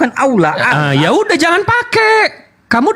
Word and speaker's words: Allah: Allah. L-nya 2 loh itu. Ya Allah. L-nya 2, berarti L-nya ditekan.